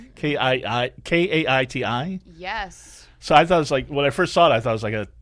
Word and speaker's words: Kaiti: Okay, because you don't spell it Katie. It's like Kaiti.